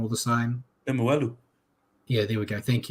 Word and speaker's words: Lemuelu: And the Dolphins have extended Connolly Lemulu. I get his name wrong all the time. Lemuelu.